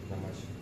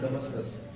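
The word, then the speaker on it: Damascus: Damask. दमस या इसका सही प्रोनाउंसिएशन है दमस्कस.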